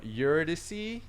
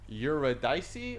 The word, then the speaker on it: Eurydice: next one is from eurydice or eurodice or euridus however you want to say her name but she's another person